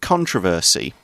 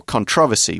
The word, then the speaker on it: controversy: campaign was full of controversy or controversy both pronunciations are okay and ended with the